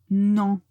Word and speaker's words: non: très important l'autre c'est NON NON faites attention quand vous le prononcer de euh le prononcer nasal non non je ne